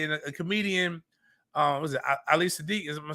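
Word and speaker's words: Ali Siddiq: one, Father's Day, and a comedian, was it Ali Sadiq? Am I saying it right, Miles? Yeah. Ali Sadiq has this great joke.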